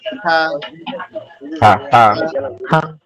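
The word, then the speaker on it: ح: এইর এই গলার মাঝ বরাবর মধ্যকান জায়গা থেকে উচ্চারণ হবে হা হা মিনিট একটু কথা শুনেন সেটা হচ্ছে আমরা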